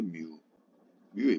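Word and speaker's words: μ: 점도 뮤, 요거 마이크로가 아니고 뮤라고 읽어요. 뮤예요, 뮤. 자, 요런 문제들이죠.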